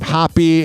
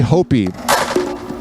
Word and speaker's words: Hoppe: this goes to having to tell people how to pronounce my last name happppy and spell it all